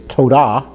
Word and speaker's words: Todah: For thank you is Todah. Todah means thank you, and that is spelled with a Tav and then a Vav. A Vav there gives the Tav letter a O sound, like we've already talked about this before.